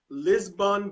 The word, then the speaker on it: Lisbon: You are am I pronouncing this? Lisbon beef farmer.